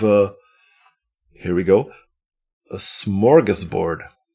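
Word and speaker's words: smorgasbord: a smorggas board of things." How much did I butcher that? You did pronounce it correctly for the English way.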